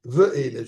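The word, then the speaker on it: ואלה: Le mot Va'ele, qui s'écrit Ve'ele, je devrais dire pas Va'ele, je m'excuse, Ve'ele, Vav, aidez-moi à compter si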